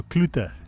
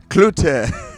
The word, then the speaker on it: Cloete: No, Cloete. Cloete. That's how I say it. Or in English, Cloete. Cloete in English, or Cloete in Afrikaans.